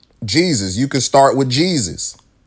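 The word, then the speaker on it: Jesús: That is spelled Jesus, but their name is Jesus because J is pronounced with a H.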